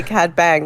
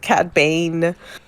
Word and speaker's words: Cad Bane: Bang, I was like, they said his name wrong, and I almost wrote it down because they didn't say Cad Bang. They said Cad Bane.